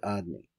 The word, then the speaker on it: Adni: One name, now this it says, is called Adni. I pronounce it Adni. You can pronounce it whatever you want.